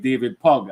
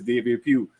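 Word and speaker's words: Pugh: it was crazy because was pronouncing his name wrong I was saying David pug and his name is David Pew so I start the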